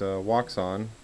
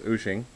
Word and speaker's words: Wouxun: to d by whooshing a lot of people call it walks on and the correct pronunciation according to the website is ushing but we're going to